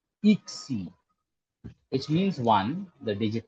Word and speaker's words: yksi: So it is pronounced as E with a slight O to it. When you round your lips, it automatically comes like that.